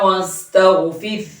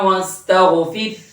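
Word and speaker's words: وَاسْتَغْفِرْهُ: আফওয়াজা ফাসাব্বিহ বিহামদি রাব্বিকা ওয়াস্তাগফির। ফির এখানে শেষে একটা ছোট হা আছে, নরমের সাথে হাটা উচ্চারণে আনতেই হবে, নইলে কিন্তু অর্থ চেঞ্জ হয়ে যাবে। ফাসাব্বিহ বিহামদি রাব্বিকা ওয়াস্তাগফির।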